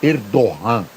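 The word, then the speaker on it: Erdoğan: é um presidente autoritário escreve erdogan mas a pronúncia é erdogan eu tive lá viu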